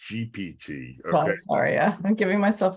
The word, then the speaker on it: GPT: what they talk about no it's not chat je pity it's pronounced GPT okay Arya I'm giving myself away you know